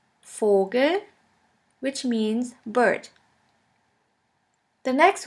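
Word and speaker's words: Vogel: means clock fou fou is pronounced like the F in the word for in German we have the word fogal Fogle which means bird the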